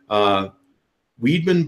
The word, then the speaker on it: Wiedmann: who works as the PR press agent for Weidman Bible we're pronouncing that right Lee that's correct hi okay